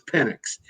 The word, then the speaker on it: Penix: into the offseason and penny I think the proper pronunciation I'm being told is Penix and I met with